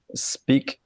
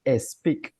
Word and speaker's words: speak: Nosotros decimos speak. No, that's not correct. You have to say speak. Las palabras empiezan con S, speak. No vamos a decir speak, no, speak.